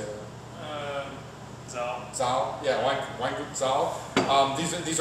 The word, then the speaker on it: Zahel: Is your Austrian pronunciation any better? How would you say that? Zahel.